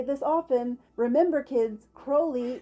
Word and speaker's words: Crowley: this often remember kids Crowley rhymes with holy that's right holy Mr Crowley holy Mr Crowley that's